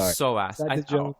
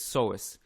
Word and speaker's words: psoas: soar to so ass i'm gonna go with so ass or so i think it's psoas um each each of